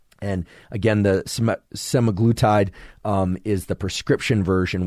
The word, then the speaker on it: semaglutide: such as sematic se I can never pronounce this can't seem to pronounce many things it seems uh semaglutide is the the way I would pronounce it in any case this